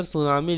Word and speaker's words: tsunami: अगर सुनामी लिखने आप नहीं जानते तो इसमें टी जो है वो साइलेंट वर्ड है।